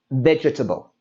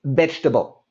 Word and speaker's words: vegetable: But when natives say it, we don't say vegetable. We say it quick and fast, and we say vegetable.